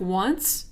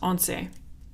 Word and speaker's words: once: It looks like once. No, it's pronounced once.